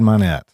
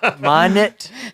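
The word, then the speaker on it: Mynatt: My name is Minot. How'd you pronounce that? Minot. Minot? Yeah. Well, Minot? My parents always said Minot. That's what I said. But you spell it with an A.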